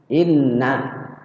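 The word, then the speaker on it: إِنَّ: Inna itu ada dua nunnya, kita bacanya yang benar kayak gitu tadi, yang benar tuh inna, kita baca asal-asalan innaka asal-asalan.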